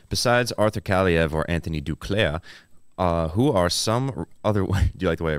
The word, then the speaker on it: Duclair: Besides Arthur Kaliev or Anthony Duclair, who are some other... Do you like the way I pronounce that?